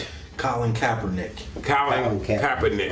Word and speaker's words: Kaepernick: But because in my spirit, I couldn't look at what Kaepernick, but how you pronounce it? Colin Kaepernick.